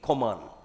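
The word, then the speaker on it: Kohman: A scientist called Koman came up with the definition of nuclide, right? Koman. I don't remember whether this is the 100% accurate spellings or not, but however it is pronounced to be Koman.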